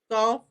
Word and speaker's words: Gauff: I think Gauff. it's Gauff. Coco Yes. Gauff.